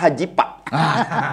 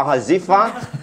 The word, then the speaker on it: Hazefa: Karena di Sunda itu huruf F itu sering tidak dipergunakan. Tapi kalau bahasa Arab justru F yang lebih banyak. Gitu. Jadi dibacanya seperti apa? Kalau misalnya Sunda apa Arab? Arab. Oh, Hirni Kifa Hazifa gitu.